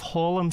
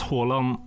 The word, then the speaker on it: Haaland: You pronounce Haaland like Haaland? Yeah, it's A is an O in Norwegian. It's a different sound.